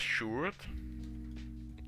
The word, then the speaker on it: Sjoerd: And you pronounce it as Sjoerd. Like the D is actually a T at the end. And OA means oo in our language.